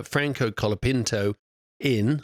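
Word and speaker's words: Franco Colapinto: Logan Sergeant got released from his contract uh Franco kapino in I said it right this time and he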